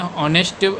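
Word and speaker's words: honest: इज एन नेस्ट मैन इसमें ऑनेस्ट पढ़ा जाता है और एच साइलेंट होता है इसलिए जो स्वर यानी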